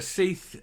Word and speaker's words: Sidhbh: plastic surgeon uh Dr seith Gallagher I believe that'll be Seath I think that's the Irish pronunciation uh Dr seith Gallagher